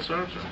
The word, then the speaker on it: Sartre: Philemon there was a French philosopher named jean-paul Sartre I think the proper pronunciation sharpton the Louvre I said sorry sar